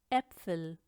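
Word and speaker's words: Äpfel: सबसे पहले ए उमलाउट है जिसको हम ए करके प्रोनाउंस करते हैं, जैसे कि डी एप्फल, डी एप्फल प्लूरल है जिसका मतलब ज़्यादा सेब ना।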